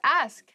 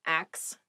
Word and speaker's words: ask: the next word is ask ask please pronounce this correctly it is not ax many native speakers make this pronunciation mistake and it really bothers me ask ask me about